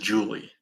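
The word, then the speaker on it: Ja'Leigh: Um, Her name is. and it's pronounced Julie because I heard the announcer.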